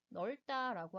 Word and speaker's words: 넓다: 예시의 두 번째에 나오는 넓다라고 하는 단어를 보면 리을과 비읍 두 개의 자음 중에서 비읍이 탈락되고 리을로 소리를 내고 있죠.